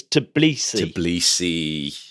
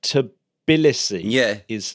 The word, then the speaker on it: Tbilisi: No, you often hear it pronounced as Tbilisi. Yeah. When you hear it on the television, but find it quite hard to actually get a definitive way of saying it. Like Tbilisi seems to be more what it should be,